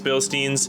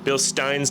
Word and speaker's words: Bilstein: nice driving on these billstein Bill Steins depending how you want to pronounce that but anyways guys thanks